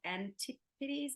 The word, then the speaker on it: Antipodes: And like Ollie said, he's coming to you from our studio campus which is called Antipodes. Is that right? Did I get that right? That pronunciation?